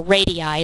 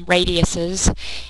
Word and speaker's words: radii: is basically two radius or radii is the correct way to say it radiuses is not the right way so radiis is the